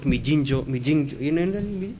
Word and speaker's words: Migingo: I was talking about Migingo Island, they were talking about Mijinjo Island, and I told them, oh, we are talking about two different islands. And they said, no, it's the same island, just different pronunciations in our culture.